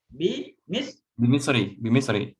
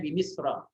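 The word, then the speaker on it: بمصر: Bimisri. Kenapa Bimisri? Karena jar majrur. Misri ini nama tempat. Nama tempat. Jadi mamnu minas sarf. Harusnya Bimisra.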